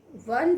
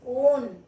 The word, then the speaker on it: one: So this own, we never pronounce own. What do we pronounce? One. Okay. So here O, it is pronounced as one.